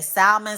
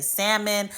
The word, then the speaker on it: salmon: the Midwest we say salmon some people say salmon neither one is is right or wrong some people pronounce the L some people don't don't be tussling with